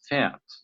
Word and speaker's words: fährt: So pronounce this as fahren. Fahren and fährt.